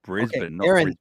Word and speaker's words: Brisbane: so proud he actually says that correctly it's Brisbane Aaron repeat after me tattoo say it tattoo